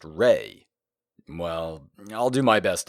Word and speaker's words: Re: pronounced that means that the sun god commonly spelled R A and commonly pronounced ra is supposed to be spelled with an e and pronounced Reay well I'll do my